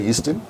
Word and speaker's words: Yeastin: So that's why Yeastin. And when you pronounce it, it's called the Eastern Civilization.